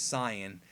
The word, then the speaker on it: Saiyan: Saiyans the tsiyon really the right way to pronounce it as Sian but if I say that people throw pitchforks